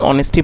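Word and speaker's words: honesty: दोस्तों यह नाउन है और जैसा मैंने आपको बताया इसमें जो एच है वो साइलेंट है। तो इसको हमें होनेस्टी नहीं पढ़ना। हमें इसमें ऑनेस्टी पढ़ना है।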